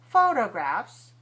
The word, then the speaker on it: photographs: Photographs, 3-1, stress the first syllable.